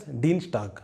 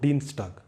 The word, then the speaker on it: Dienstag: Tuesday is called as Dienstag, right? So there is no sh here, just Dienstag.